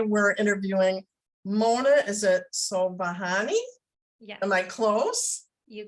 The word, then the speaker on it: Sobhani: writing and today we're interviewing Mona is it so bahani yeah am I close you got it oh